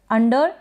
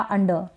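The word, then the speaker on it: under: अंडर या अंडर, इस तरीके से अंडर।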